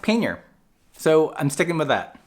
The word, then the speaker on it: pannier: can look it up on YouTube itself it's pronounced pannier so I'm sticking with that so these are